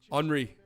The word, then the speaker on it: Henry: He's pronounced Henry. Henry. Kind of like that, actually.